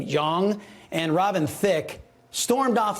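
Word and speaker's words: Jeong: show's judges uh ken i believe he pronounced his last name young and robin thicke stormed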